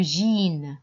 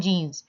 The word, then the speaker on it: jeans: féminin la veste le jeans pantalons jeans le jean jean on ne prononce pas le s à la fin de mon mich birel